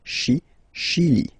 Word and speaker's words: Chili: Okay, remember, C-H, sh. Okay, Chili.